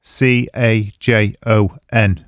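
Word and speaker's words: cajón: Cajon is spelt C-A-J-O-N, but it's pronounced cajon because it's a Spanish word. So the J is dropped and you can replace it with a H.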